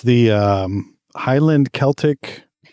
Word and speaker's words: Celtic: People, is it Celtic or Celtic? Celtic. Celtic. Okay, I said it right.